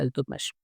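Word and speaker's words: Iltutmish: इल्तुतमिश भी बोलते हैं और इल्तुतमिश भी बोलते हैं, तो कंफ्यूज नहीं होना है। जो भी आएगा उसको हम यहाँ पे प्रोनाउंसिएशन यही रहेगा इल्तुतमिश।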